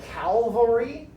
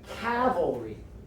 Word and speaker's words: cavalry: mispronounced cavalry so they a lot of people pronounce it calvary that is not correct calvary is like the place where jesus was like crucified or something like that cavalry cavalry and it comes from the it comes